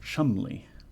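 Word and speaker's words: Cholmondeley: give you a hint the first one is pronounced Chumley this Chumley oh those mad English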